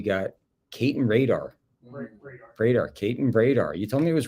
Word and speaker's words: Bredar: Caton Bredar.